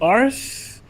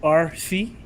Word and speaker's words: Arce: But the secret is pronounce it like RC. Right. Mm-hmm. That's it. RC? RC, yeah. Is it RC or Arce? It's Arce, but Arce? usually Americans say it like RC, like the RC Cola.